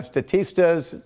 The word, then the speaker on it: Statista: That's according to Statista's, that's how you pronounce that, or the Consumer Insights Report.